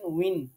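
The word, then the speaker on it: وٍ: ওয়া দুই জের আপনি যেটা বলেছেন উইন, এটাই হবে সঠিক। কেউ ওয়া দুই জেরকে ভিন বলেন, তারপরে কেউ অর্থাৎ ভ, ব এরকম বিভিন্নভাবে মানে ওয়ার উচ্চারণটা হয় না। কেউ হামজা বানিয়ে ফেলেন।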